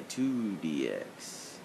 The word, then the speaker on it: IIDX: of Beat Mania with two additional Keys it's pronounced read Mania 2dx not iidx iidx is for those who don't know I